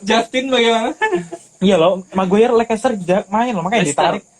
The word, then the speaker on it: Leicester: Iya loh, Maguire Leicester main loh, makanya ditarik. Pronounce-nya Leicester. Kamu ketemu grammar Nazi itu dihabisin kayak gitu. Yang pronounce itu dibenerin. Cok. Leicester.